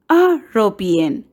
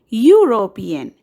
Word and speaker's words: European: E, we don't pronounce European. That is, with the sound of the vowel letter E. We say European, which has the sound of the consonant letter Y.